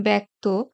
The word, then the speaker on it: ব্যক্ত: কিন্তু উচ্চারণে পার্থক্য ঘটে যেমন শব্দের শুরুতে জ ফলা যুক্ত হলে সাধারণত তার উচ্চারণ এ হয়ে থাকে যেমন ব্যক্ত ব্যর্থ ব্যাগ্র ব্যবস্থা ব্যস্ত